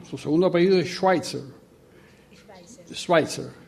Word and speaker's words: Schweitzer: Schweitzer. Una pronunciación no alemana.